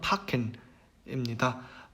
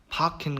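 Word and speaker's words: packen: 이거는 그냥 크 발음으로 얘기를 하시면 되고요. 예시 단어로는 파켄입니다. 파켄 같은 경우는 짐을 싸다, 뭐 이런 뜻이 되겠죠.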